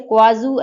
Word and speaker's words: Kuaizhou: ठीक है, तो इसका मैं स्पेलिंग बता देती हूँ, KUAIZHOU। ठीक है, क्वाजू 11 कैरियर रॉकेट जो है ये चाइना ने किया था लॉन्च, और लेकिन ये फेलियर हुआ है।